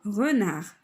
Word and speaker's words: renard: D ça ne prononce pas حينتاش هي lettre muette. غاديش نقراو دي، نقولو هنا renard.